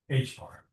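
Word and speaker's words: ħ: H bar. I know you pronounce this H bar.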